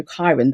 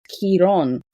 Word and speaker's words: Chiron: typically we refer to Kairen as, you know, Kairen, the Latin translation or the way we say in English, but in Greek it said and it's pronounced as Kiron.